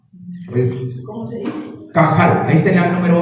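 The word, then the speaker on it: qahal: q a h a L Cómo se dice cajal ahí está en el número ocho en el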